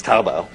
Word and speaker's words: Taobao: well Alibaba is one of five there's also taobao they get it right that they're pronounced it correctly okay I've been practicing the last five minutes taobao which is basic have the combination of imagine